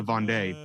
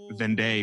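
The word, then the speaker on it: Vendée: gonna be talking about the war of the von de which I've been pronouncing vendee for like forever and so I just found out how to process it correctly hopefully I don't know if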